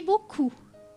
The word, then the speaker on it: beaucoup: Merci beaucoup. Merci. Beaucoup. Merci beaucoup. لاحظوا أن في كلمة beaucoup البي في الآخر تكتب لكن لا تنطق ومعناها شكرا جزيلا.